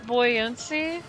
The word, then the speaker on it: buoyancy: It unfortunately does not play Wait, does not play players entire Xbox Library games until Wait, it's pronounced boy in buoyancy.